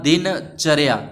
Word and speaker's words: दिनचर्या: लिख रखा है तो दिनचर्या का जो सही उच्चारण है व कौन सा होगा तो यह दोनों तो नहीं हो सकते क्योंकि इसमें दीन द बड़ी आ रही है उसके बाद दिनचर्या च के बाद र आता है तो मतलब ए नंबर